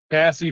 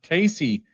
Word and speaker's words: Cassie: little machine over there Cassie frell oh it says pronounced Casey oh why why have I been saying Cassie when when Craig put pronounced Casey she probably hates me